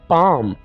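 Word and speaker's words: palm: English में पाम कहेंगे पाम यहां पर हम एल को साइलेंट रखेंगे ठीक है अंगूठे को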